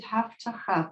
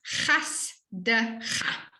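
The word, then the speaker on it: חַסְדְּךָ: in line 2, yes, it sounded like you said haftacha, but isn't that a samach? it is chas de cha.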